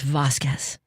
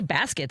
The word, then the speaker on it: Vasquez: And I'm not gonna be like, excuse me, it's Vasquez. Because Vasquez is actually closer to the way a lot of people pronounce it.